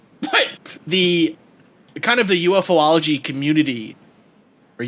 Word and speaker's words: ufology: UFO or whatever, but the kind of the UFOlogy community, or ufology, how do you say that, Rob?